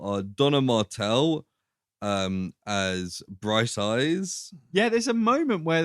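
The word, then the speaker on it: Briteise: bright something else so actually it's spelled b-r-i-t-e-i-s-e so it's like Brit ice right but it's just Bright Eyes do they say they're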